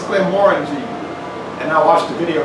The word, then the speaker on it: Glenmorangie: We were saying Glenmorangie, and the guy was like, no, it's Glenmorangie.